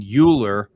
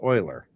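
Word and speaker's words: Euler: and and and uler, which I've always pronounced as Uler, is actually pronounced Oiler.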